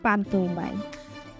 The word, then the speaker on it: পান্তুইমাই: পান্তুইমাই গ্রামের স্থানীয় নাম পান্তুইমাই, কিন্তু সঠিক উচ্চারণ পান্তুইমাই।